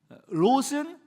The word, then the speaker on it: 롯: 지금 제가 말하고 있는 이 룻기에 나오는 룻은 그러니까 룻이고 롯은 창세기 19장에 나오는 아브라함의 조카의 이름이에요.